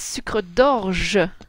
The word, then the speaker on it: sucre d'orge: So when you say it, it's sucre d'orge, je. Here it's e at the end, not I, e.